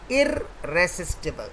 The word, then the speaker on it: irresistible: Now the correct pronunciation is irresistible, not irresistible. It's not irresistible, it is irresistible. Like we say divisible, not divisible. Divisible, irresistible.